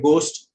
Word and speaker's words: ghost: The letter H is silent in certain words where the word begins with G and H together. Words like ghost, ghetto, gherkin.